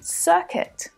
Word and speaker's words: circuit: Now let's check out a couple of other examples because it's quite common to see UI in English words, but to only hear the short I sound pronounced, like in circuit, biscuit, guilty, and guitar.